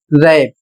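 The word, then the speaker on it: wrap: अगला शब्द है डब्ल्यू आर ए पी और इसे पढ़ा जाएगा रैप और इसका अर्थ होता है लपेटना।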